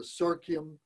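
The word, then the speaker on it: Serkyem: This is called the Serkium Tea Offering. So Serkium is spelled S-E-R-K-Y-E-M, Serkium, tea offering.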